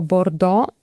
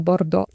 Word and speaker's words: Bordeaux: Arcachon, to jest niedaleko Bordeaux. Powiedziałam to z takim polskim akcentem, bo faktycznie wszyscy Polacy mówią Bordeaux, ale oczywiście jest to Bordeaux, więc jeśli nie wiecie,